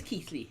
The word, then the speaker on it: Keighley: It is Keighley.